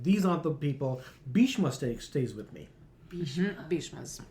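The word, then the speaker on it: Bhishma: Like these aren't the people Bishma stays with me. Bishma Bishma's Bishma will two syllables you can remember throughout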